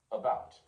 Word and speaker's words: about: It's pronounced as in about, enough, until.